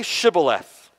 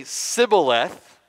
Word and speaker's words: Shibboleth: They would say to him, okay, verse 6, then say Shibboleth. The Ephraimite would say Sibboleth, for he could not pronounce it right.